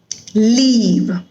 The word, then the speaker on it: leave: If you listen to these sounds very closely, you will feel the difference between the long E sound and the short E sound. So, fit, feed, bit, bead, live, leave.